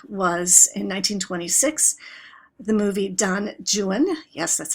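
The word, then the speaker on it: Don Juan: So the first film that ever had a soundtrack was in 1926 the movie Don Jan, yes that's how you pronounce it with John Barrymore and it was an extremely successful experiment.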